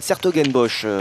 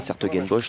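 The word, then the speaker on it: 's-Hertogenbosch: d'ailleurs, on ira au niveau des Europes à Sertogenbosch durant d'ici une quinzaine de jours. Ou Bois-le-Duc d'ailleurs, hein, il y a la prononciation française, il y a un célèbre tournoi de tennis sur gazon. Et bien Sertogenbosch donc accueillera les championnats d'Europe un petit peu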